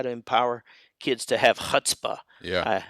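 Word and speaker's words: chutzpah: empower kids to have hutzpah yeah hope I pronounced that right right it's hutzpah but yeah you're fine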